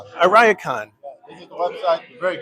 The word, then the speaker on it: Ariakon: It's called the Ariakon. Ariakon.